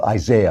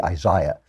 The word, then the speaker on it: Isaiah: And I want to talk about the book of Isaiah, or as the British say, Isaiah, because the British are just so annoying.